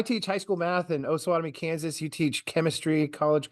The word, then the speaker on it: Osawatomie: I can't in any way talk because everybody calls my town Osawatomie, which is awesome, but it's not how it's pronounced. Osawatomie.